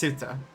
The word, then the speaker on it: Ceuta: And again, I don't know if it's pronounced Cuta or Ceuta. It might be Queta. I'm going to look it up right now. Pronunciation. Ceuta. Okay. It's pronounced Ceuta.